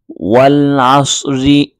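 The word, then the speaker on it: والعصر: পড়েছি ওয়াল আসরি হ্যাঁ যদি আপনি আসরি না পড়ে এখানে ওয়াকফ করেন ওয়াকফ অর্থ হচ্ছে থামা অর্থাৎ এখানে যদি আপনি থেমে যান তাহলে উচ্চারণ হবে ওয়াল আসর ওয়াল আসর মানে সদ এবং র দুইটাই সাকিন উচ্চারিত হবে তারপর ঠিক একইভাবে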